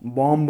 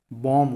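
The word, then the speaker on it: bomb: जब भी किसी वर्ड के लास्ट में M आए और आखिरी में B आए ना, B वहाँ पे साइलेंट होता है। जैसे बॉम्ब, बॉम्ब नहीं होता है, बॉम्ब होता है।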